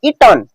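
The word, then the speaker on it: eaten: का third form है ईटन, ईटन या ईटेन, आप जैसे प्रोनाउंस करें आपकी मर्जी। ठीक है, ईटेन भी कह सकते हैं, ईटन भी कह सकते हैं, हालांकि मुझे ज्यादा सही लगता है ईटन।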